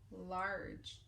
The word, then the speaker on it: large: word is large large so our beginning sound oh there's our control we're gonna make the r sound like a pirate and then our G is a soft G so it makes the J sound and we don't hear the e at the end large our next word